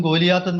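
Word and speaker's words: Goliath: സംഭവിച്ചത് അങ്ങനെയൊന്നുമല്ല ഈ ദാവീദും ഗോലിയാത്തും തമ്മിലായ ഗലായത്ത് എന്നാണ് ഇംഗ്ലീഷിൽ അതിന്റെ ഒരു ഉച്ചാരണം മലയാളത്തിൽ ഗോലിയാത്ത് എന്നാണ് നമ്മൾ പലപ്പോഴും പറയുന്നത് അപ്പോം ഈ സംഘർഷത്തിൽ ഗോലിയാത്തിനെ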